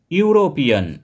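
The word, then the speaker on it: European: ইউরোপিয়ান, ইউরোপিয়ান এই ওয়ার্ডটিতে vowel ই দিয়ে শুরু হলেও এর উচ্চারণ হচ্ছে ইউ, অর্থাৎ ওয়াই দিয়ে এর উচ্চারণটা আমরা শুরু করছি, আর ওয়াই হচ্ছে কনসোনেন্ট, তাই ইউরোপিয়ানের আগে বসবে এ, এ ইউরোপিয়ান।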